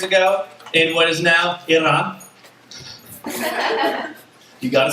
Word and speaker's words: Iran: couple hundred years ago in what is now iran you gotta say it like that uh and